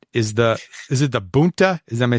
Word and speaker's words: Boonta: because the plot is the is it the Boonta is am I saying it right jack oh yeah Boonta Eve classic now it's a cool looking card